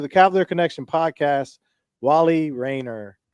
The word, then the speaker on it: Rainer: It's It's Rainer. Rainer. Okay. That's how I always pronounced it growing up, but I feel like I heard people say Reneer. People do say Reneer sometimes, but yeah, you